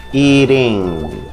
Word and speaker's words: eating: Y asegúrese de pronunciar la letra T como si fuera una R. Y decimos eating, eating.